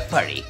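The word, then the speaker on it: purée: way the the pronunciation the correct pronunciation is tomato Purry tomato Purry now where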